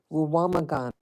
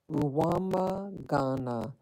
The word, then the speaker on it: Rwamagana: Yeah, the name of the neighborhood is called, okay, I have to pronounce it in American English, Rwamagana. Rwamagana.